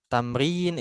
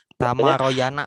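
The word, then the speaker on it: تمرين: Jadi nanti kalau baca jangan asal baca gitu. Jangan yang kayak gini itu dibacanya tamaroyana. Enggak gitu. Enggak, tamrin ya.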